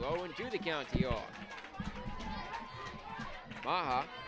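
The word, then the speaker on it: Meagher: Maha. Name looks like Magyar, M-E-A-G-H-E-R, but it's pronounced Maha.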